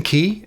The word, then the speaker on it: Cay: Key is the proper pronunciation for these islands.